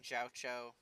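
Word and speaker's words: Jiaoqiu: So I'm trying to just keep saying Jiaocho so I remember to say it that way.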